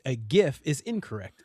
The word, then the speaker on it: GIF: The G is soft, confirmed by the inventor itself, Stephen Wilhite. It is not gif with a hard It's not gif with a hard G. It is gif.